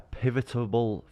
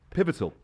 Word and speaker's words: pivotal: yeah I think um this is a pivotable that's not right is it pivotal pivot how do you say it pivotal pivotal point in my